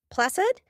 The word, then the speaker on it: placid: Placid with the s sound, the soft c.